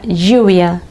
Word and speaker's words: lluvia: Cuando la L está duplicada en español, el sonido no es como en otras lenguas donde la L duplicada es como una L más larga. En español suena Y. Por ejemplo, en la palabra lluvia tenemos la L duplicada, o en la palabra llave.